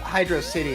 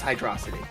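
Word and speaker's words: Hydrocity: You know, I used to call it Hydro City, and then I saw Mega Mind. It's Hydrosity. Exactly!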